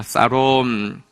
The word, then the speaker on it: 샬롬: 자, 우리 히브리인처럼 한번 샬롬을 한번 발음해 보겠습니다. 살롬.